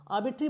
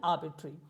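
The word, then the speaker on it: arbitrary: लिखा है आर्बिट्री लेकिन मैं इसको आर्बिट्री बोल रहा हूं आर्बिट्री बोलने का रीजन ये है कि जब भी आर का साउंड मिडल में आता है तो उसको हम एक तरह से अ प्रोनाउंस करते हैं या फिर एक तरह से स्किप सा कर देते हैं इसलिए इसको बोलते हैं आर्बिट्री अब बात करते हैं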